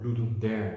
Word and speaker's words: Ludum Dare: Ludum Dare, or Ludum Dare, the English pronunciation, is a jam, kind